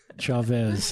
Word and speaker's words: Chaves: Say your last name for Chavez. Is that right? That's very close. Yes. I'm going to spell it for our listeners.